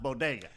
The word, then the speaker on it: bodega: first person you see, and they know it's pronounced bodega.